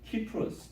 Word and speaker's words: 키프로스: 근데 구브로 그러니까 마치 고구마 뭐 비슷한 저에게는 아주 이상한 구식의 이름으로 보이지만 구브로는 키프로스, 뭐 사이프러스는 영어 발음인 것 같아요.